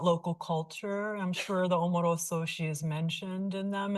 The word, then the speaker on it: Omoro: Uh there is a scholar, as you mentioned at the beginning, that the Omoro probably should be pronounced as like Umudu in the Okinawan language.